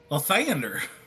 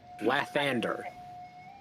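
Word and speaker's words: Lathander: Stu, would you like to say it my favorite way that you say it? Because I think it will spell it for her. Leander. No, that's going to add an extra. So, Leander. L T H A N D E R Lander.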